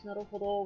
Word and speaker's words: naruhodo: He does actually use naruhodo with the long O correctly every time.